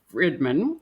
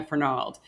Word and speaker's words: Fernald: up with a restaurateur named anya friedman i'm going to pronounce her name correctly for nals sorry anya fernald who happens to be